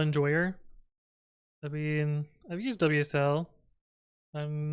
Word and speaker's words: WSL: I've been I've used WSL I'm not a fan of it it can work sometimes it's pronounce whistle yeah necklaces I use